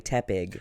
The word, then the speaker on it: Tepig: more sense to me it's like tepid and so I was like oh okay yeah it's probably Tepig but as a but I say it like tea Pig it's spelled it's like